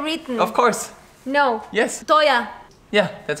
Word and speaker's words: teuer: Toya. Yeah, that's how you write it. Teuer. Toya. No, Teuer.